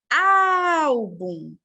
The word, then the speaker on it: Álbum: Álbum é a penúltima.